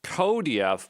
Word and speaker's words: cuDF: So, here we are with QDF, which apparently is pronounced CODF, but um I'm not going to do that.